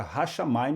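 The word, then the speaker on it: הַשָּׁמַיִם: Então a palavra Hashamayim, se fosse fazer uma separação técnica aqui das sílabas, seria a primeira sílaba Hash, a segunda sílaba Shá, a terceira sílaba Ma e por fim Im, Hashamayim, os céus.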